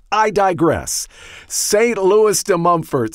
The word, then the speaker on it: Montfort: Louis de Montfort, or if I were to pronounce it in French, St. Louis de Montfort.